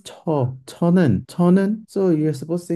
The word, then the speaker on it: 저: But many students are like, okay, when Sun Senim was teaching me this, he said this is J. So I'll pronounce it like a J. I'm like, no, this is Cho.